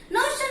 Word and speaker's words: notion: Notion means what, children? Notion spelling N-O-T-I-O-N, right? Notion means you have to pronounce it as notion. SH sound should come, right? Notion.